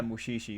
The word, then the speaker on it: Mushishi: or uh is it mushishi is that how you say it let me just make sure uh yeah mushishi yeah i thought this